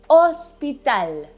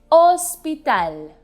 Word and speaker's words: hospital: have hospital in spanish hospital remember that as a rule in spanish the letter h is always silent unless it's preceded by the letter c so in this case hospital i have to go